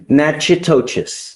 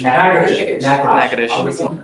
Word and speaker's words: Natchitoches: I butchered the pronunciation, but Natchitoches. Yes, What is it? Natchitoches.